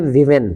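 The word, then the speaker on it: women: जैसा कि आप जानते हैं, ये देखिए, ये एक वर्ड है, इसको हम पढ़ते हैं विमेन।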